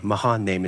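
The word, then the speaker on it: Mahanaim: Mahan name is how you pronounce it.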